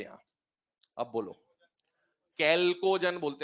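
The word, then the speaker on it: chalcogen: अब बोलो, कैल्कोजन बोलते हैं इसको ना, चैल्को नहीं बोलते, स्पेलिंग याद कर लो भले, चैल्को से, इसका एच साइलेंट है, इसको बोलते हैं कैल्कोजन।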